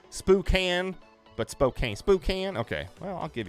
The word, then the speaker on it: Spokane: guys talking about over there is how you pronounce Spokane spook and but Spokane Spokane okay well I'll give you guys that